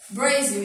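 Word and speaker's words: Brazil: Porém, na língua inglesa a gente escreve Brasil com Z, a pronúncia é Brasil.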